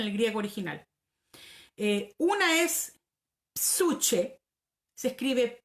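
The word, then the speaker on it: ψυχή: Una es psuche, se escribe P-S-U-C-H-E, psuche, ¿ya?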